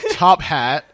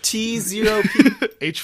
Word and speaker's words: T0PH4T: Yep, this is, as many of you know, Top Hat. That is, in fact, the correct way to pronounce it. I thought it was pronounced T0P.